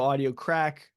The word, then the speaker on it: Audio Craic: It's spelled audio CRAIC. So Audio Crack, but it's spelled differently than crack cocaine. It's CRAIC.